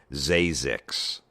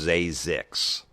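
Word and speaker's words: Zzyzx: In the last 15 years, 5 babies have been given the name Zazix. Now, Zazix is spelled Z-Z-Y-Z-X. That's how it's pronounced Zazix.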